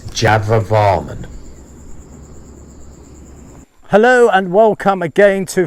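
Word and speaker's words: Jayavarman: in my excitement i've mispronounced the king's name in this one it's java varman hello and welcome again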